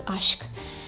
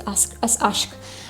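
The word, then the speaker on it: Aşk: Ashk is a Turkish word for love. I have also Liebe, which is German love. This one is Ashk. By the way, in Fragrantica, it says Ask. It's not Ask, it's Ashk.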